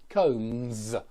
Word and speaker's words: combs: So even though we write it with an S, we pronounce it with a Z. Combs, combs.